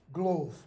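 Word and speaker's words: glof: bag it's spelled g l f and it's pronounced glove only there it's not a glove that you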